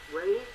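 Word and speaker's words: Reye's: When he was young, he got, I think it's pronounced Ray's disease, R-E-Y-E-S, very high fever, and, affected him.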